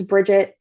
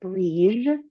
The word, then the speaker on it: Brigid: strongly associated with Brigid, the goddess Brigid. Sometimes Bridget or Brige, if you're going with the Gaelic pronunciation.